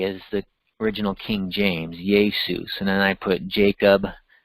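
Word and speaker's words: Iesus: It's transliterated into English with a I-E-S-U-S, Jesus. That J sounds like a Y, Jesus.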